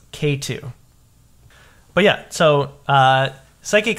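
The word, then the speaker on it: Xatu: life but also the entire last generation is zetu uhuh it's the evolution of natu I found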